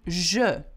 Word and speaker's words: je: J'ai and je. Two different things. So here we go. J'ai, a sound, and how do you pronounce je? Je. Okay? Can you see that? So you shouldn't struggle with that. It's quite, you know, quite different sound.